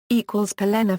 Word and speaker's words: Pelennor: = Pelennor Fields= The Pelennor Fields were the townlands and fields of Minas Tirith. The name Pelennor means fenced land in Sindarin. It is pronounced with the emphasis on the second syllable.